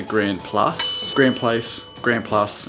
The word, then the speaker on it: Grand Place: think it's called the Grand Place being pronounced the grand Plus Grand Place Grand plus